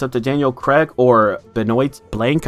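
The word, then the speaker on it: Benoit Blanc: And now it's up to Daniel Craig or Benoit blank, I believe it's pronounced, to solve this murder because he comes into town and he wants to solve it.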